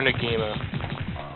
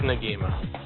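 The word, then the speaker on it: Negima: Baka Rangers from ngima however you pronounce the damn anime I prefer ngima I don't care what anyone says it's ngima oh yes I love that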